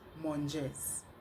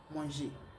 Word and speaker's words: mangez: It is not pronounced manges. It is manger. Do not forget that majority of the last letter of French language are not pronounced.